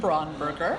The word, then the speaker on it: Braunberger: um nice and just for you I'm braunberger uh b r a u n b e